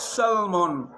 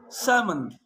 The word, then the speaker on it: salmon: oak york half calf salmon not salmon salmon so we got to